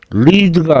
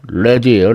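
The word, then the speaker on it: lead: 자, 다음은 납드.이 발음이 리드가 아니고 레드예요.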